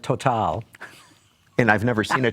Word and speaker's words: Total: hotel the French Petroleum which we used to pronounce total right but now everyone calls it total and I've never seen